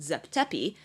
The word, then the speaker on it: Zep Tepi: And so you have the first creation at the very beginning of time which in Egyptologies is pronounced Zep Tepi or first occasion, and then you have the